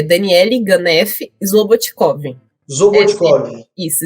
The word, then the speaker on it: Slobodticov: Vamos lá, é Daniele Ganef Slobotkov. Zobotkov. Isso, Slobotkov. Slobotkov. Só que o D é mudo.